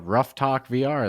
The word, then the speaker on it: Ruff Talk VR: like extra ugh yeah it's r u f f uh and then talk and vr rough yeah exactly like a dog our podcast producer reggie